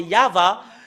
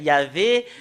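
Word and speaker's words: יהוה: C'est ce que nous voyons dans le Sefer Torah des Juifs, c'est Yahva. Et ça prouve très bien que voilà la vérité juste en haut qui confirme ce terme que c'est Yahva qui est le vrai. Yahvé n'est pas dans dans l'alphabet juif ancien. Est-ce que c'est l'alphabet juif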